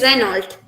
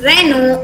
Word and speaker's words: Renault: this uh this car brand uh varian is reynold but here the last lt sound is silent and it's pronounced as renault instead of reynold this one this one in the english way